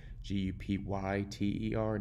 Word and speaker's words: Jupyter: It's kind of spelled weird. It's spelled Jupyter, not like the planet, but you can search